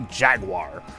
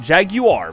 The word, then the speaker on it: Jaguar: you guys were surprised that I didn't say Jaguar I said Jaguar because this is a European sports car and that's how it's pronounced unlike the Atari Jaguar which is made